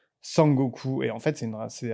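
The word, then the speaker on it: 孫悟空: été très réadapté et sukong en fait en japonais ça se prononce sang gooku et en fait c'est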